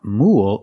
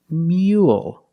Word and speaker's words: mule: another spelling pattern u-l-e the first word is Rule but the second word is not mule it's mule so it's a little different